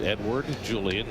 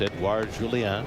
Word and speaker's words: Edouard Julien: Edward Julien, who grew up in Quebec City, nonetheless wants his name pronounced Edward Julien, not Edouard Julien.